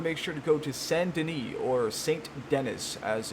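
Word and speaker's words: Saint Denis: you want to make sure to go to sandini or saint dennis as it's phonetically going to sound mercies to you it's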